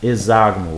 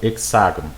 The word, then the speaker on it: hexágono: no polígono chamado de hexágono ou hexágono tanto faz a pronúncia tá ele é dito